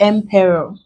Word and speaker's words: emperor: We use ROR, that will be emperor. Emperor. This is the syllable before last. We have capital PE.